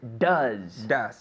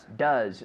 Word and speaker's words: does: Does your mother But now be careful here. Does. Does. So with this word, your tongue has to stay inside your mouth, right? If you say does, no, your tongue has to be behind your teeth.